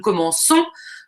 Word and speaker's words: commençons: nous comment qu'ont donc nous voulons dire nous commençons donc on ajoute une série vous commencer et